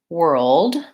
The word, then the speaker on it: world: this word is that it's spelled with the letters O R but it really has the ER sound so if you can say we're then you can say world because it's just like